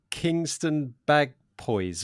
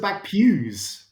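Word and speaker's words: Kingston Bagpuize: this village's name right is it kingston bag poise or something that's the back pews bagpup seriously everybody go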